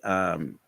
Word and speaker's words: Suno: No, this is actually Suno.